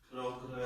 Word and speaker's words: progress: On the first syllable, that's right. And they sound like what? Import. Export. Progress.